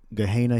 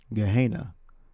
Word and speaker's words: Gehenna: Gehenna, or Gehenna, that's how you pronounce it in Greek.